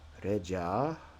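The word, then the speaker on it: レジャー: Yeah, reja, where the ja is held out one extra syllable.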